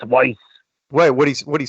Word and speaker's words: Weiss: He's like, Weiss. It's Weiss.